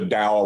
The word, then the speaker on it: Tao: wrote a book called the tao of willie it's kind of the philosophy of willie or the the dow of willie depending on how you pronounce that or as willie calls it the toe of willie and and i don't